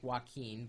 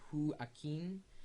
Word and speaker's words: Joaquin: the key who Ain it looks like Wen but he says hu Ain and was born in